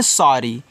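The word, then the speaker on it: sorry: आगे देखो यहां पे एस O double R वाई। तो इसको पढ़ते हैं सारी। तो यहां इस तरीके से आपको सॉरी पढ़ना है। डबल आर है तो एक ही बार रहा और वाई आया तो यहां पे बड़ी ई की मात्रा लगा देना।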